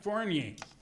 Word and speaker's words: Fournier: On that end down there, on the left end, is Mike Fournier.